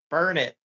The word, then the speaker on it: Burnet: Burn it.